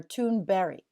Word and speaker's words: Thunberg: And then Business Insider had an article that called Greta Thunberg. I wish I could say it right the way she said it. Greta Thunberg or Thunberry, almost like a berry.